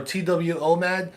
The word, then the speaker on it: twomad: gonna spell it out it's a two-man or twomad yes but too bad says they